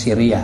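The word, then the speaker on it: sirriyah: ya istri dan budak perempuan bacanya Siriah kalau Sariah itu adalah pasukan yang diutus oleh Rasulullah Sallallahu Alaihi Wasallam untuk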